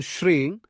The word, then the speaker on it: Shri: It's a long I in Shri, not a short I, a small thing.